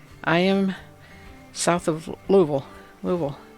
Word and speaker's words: Louisville: am south of louisville louisville that's how you say it it's all vowels louisville i am not